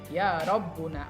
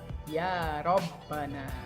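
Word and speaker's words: يا ربنا: kita dengan harf Nida maka yabana tidak boleh yauna apagi yaina yang benar adalah yabana Oke demikian teman-teman tadi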